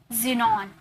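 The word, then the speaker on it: xenon: rule number 2 देखिए, rule number 2 है, word के शुरू में अगर एक्स आ जाए तो उसे ज में प्रोनाउंस करते, ज में प्रोनाउंस करोगे, ओके, ज नहीं ज, जैसे जाइलम, जाइलम, जिनॉन, एक्सरे, यहाँ पर तो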